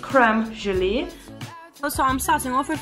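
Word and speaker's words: crème gelée: We will say cream jelly, but I believe it's like pronounced creme gelee.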